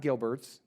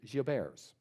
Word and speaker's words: Gilbert: the French population so it's not Gilbert's the current pronunciation I'm told is Geo bears this is an interesting